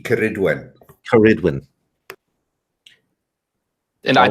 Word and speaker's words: Ceridwen: Ceridion. Cerrid. Hard C, Ceridwen.